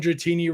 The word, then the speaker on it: Dratini: Before Bikini Dratini, it was almost girl at the beach opening packs, and Dratini rhymes with bikini.